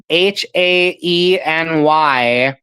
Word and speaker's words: Haeny: John Densmore played recording engineer John Haney, if I'm pronouncing that correctly. I believe it's Haeny.